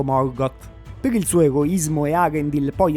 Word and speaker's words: Eärendil: Lo so che è molto da nerd correggere la pronuncia del film, però la pronuncia giusta di questo nome sarebbe Earendil e non Erendil.